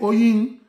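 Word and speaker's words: oyin: Se une y se convierte en una sola palabra que se escribe Oñin, pero se pronuncia Oñi, que Oñi sería miel de abejas.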